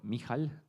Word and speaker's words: Mikhail: yeah the last one so Mikhail that's how you pronounce it cool now try with